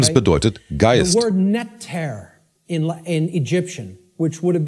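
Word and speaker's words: Netjer: Das Wort Netter in Ägyptischen, which would have been spelled without vowels, if we transliterated it, it would be NTR in English.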